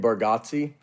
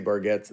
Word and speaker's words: Bargatze: we say it wrong as a family too. I think it's supposed to be Bargazzi. And we say Bargats, like it's just we've southerned it up.